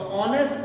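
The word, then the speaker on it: honest: तो ऑनेस्ट मैन में पहले क्या आ रहा है बेटा? एच। एच साइलेंट रहता है, हम स्टार्ट किससे कर रहे हैं? ओ से।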